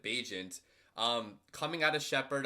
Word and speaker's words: Bagent: udfa quarterback Tyson bajent I think it's actually how you say his name I've been saying in vaginant the entire time but I'm pretty sure you pronounce it bajent um coming out of